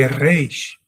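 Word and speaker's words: ריש: European Jews pronounce this letter as an RH sound with a French accent, French and Germanic accent. They say Reish, Reish, Baruch Hashem, Beseder.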